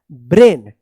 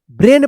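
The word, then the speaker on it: brain: आपका क्या होगा कि जब ए आई एक साथ लिखा रहेगा तो इसका उच्चारण क्या होगा ए होगा और ए के बाद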